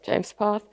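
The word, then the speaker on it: JMESPath: James path is pronounced uh James path and a declarative query language for JSON which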